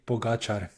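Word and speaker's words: Pogačar: its uh pros and cons how do you pronounce the Chap's name that won it that they pogachar okay I'm not going to try and do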